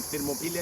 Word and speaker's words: Thermopylae: I'm in Thermopylae, as it's pronounced in Greek, in central Greece.